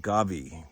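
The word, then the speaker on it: Govee: from uh the by a company called Gabi I think that's how it's pronounced go o v e e super cool stuff um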